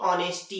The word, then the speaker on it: honest: क्या होता है, मतलब ओ के पहले एच आता है तो एच साइलेंट होता है।